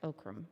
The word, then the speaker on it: OCRM: office of Capital Access ocrm pronounced oakam for everybody who's here